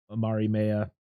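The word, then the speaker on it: Mariemaia: Relina comes face to face with Marimea.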